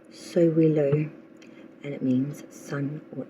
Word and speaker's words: Sowilo: Our next ruin, the card for October, is pronounced Sowilo, and it means sun or energy.